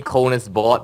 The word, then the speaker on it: KonisBored: I picked the name KonisBored because it's an abbreviation of my first name, Kon. That's not actually my actual first name, but it's an abbreviation, so it's pronounced literally Kon is bored.